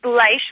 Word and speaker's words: Bleish: It's Bleish, long I, like German.